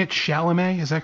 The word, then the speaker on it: Chalamet: Chalamet, is that correct? Yeah, Chalamet.